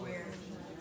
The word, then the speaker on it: Ware: Rhymes From with- some I know, I was like, no, it rhymes with where.